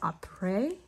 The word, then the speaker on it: Après: So I use the system called Après, and it's spelled APRES.